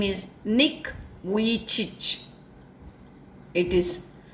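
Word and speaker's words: Vujicic: name of this person his name is Nick we teach it is pronounced as we teach see the spelling it's something different and this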